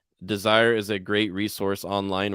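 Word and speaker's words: DSIRE: carolina state university has the desire which is spelled d-s-i-r-e desire is a great resource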